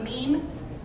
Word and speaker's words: meme: thing you probably see before it's called a meme that's pronounced like meme gene okay so um so it's it's a